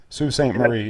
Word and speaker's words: Sault Ste. Marie: a second place finish up on, is it pronounced Sault Ste. Marie, Michigan? Yep. Sault Ste. Marie, yep.